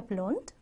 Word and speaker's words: blond: Ist er blond? Ist er blond? 그는 금발머리니? 라는 거죠. 여러분, 블론트라고 읽는 거 아시죠? 당연히 아시겠지만 한번더 짚어볼게요.